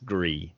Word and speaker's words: Gris: I would say slight a silent s Gris I just think that sounds the best to the free it's likely French with the French pronunciation for the word gray Gris well they're wrong same